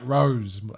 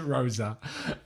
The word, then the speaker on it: Rose: coach as well um rose is spelt like rose right you pronounce it rosa but it spelt like